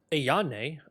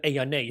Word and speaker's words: Ayan: Ayan? Oh, that's how we say her name. I was saying it like Aane or something.